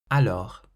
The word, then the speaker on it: alors: The next word, alors. Alors means so it has an S on the end that's silent.